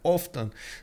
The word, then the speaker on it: often: get to see that often so often often um anyway yeah usually I think that's a silent T in English um usually Poland does